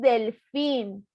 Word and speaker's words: delfín: No decimos delfín, decimos delfín. Y como termina en N, lleva acento.